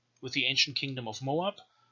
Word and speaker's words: Moab: the ancient kingdom of moab or muab which is what it was probably pronounced like you can see the